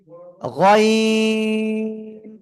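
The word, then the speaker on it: غ: এবার আমরা যে অক্ষরটা শিখব সে অক্ষরটা কি, এই যে খেয়াল করবেন, গয়িন। তিন আলিফ টেনে উচ্চারণ করব, সব একসাথে জোরে বলেন, গয়িন।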